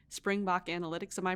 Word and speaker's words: Springbok: And we know that we introduced you earlier as the co-founder of an AI power analytics company called Springbok Analytics. Am I pronouncing that correct?